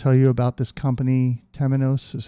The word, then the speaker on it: Temenos: I want to tell you about this company Temenos is how I'm gonna pronounce it they are the world's number one